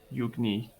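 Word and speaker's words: Eugni: once again she could be reunited with you yugni so it's spelled e e-u-g-n-i the end for now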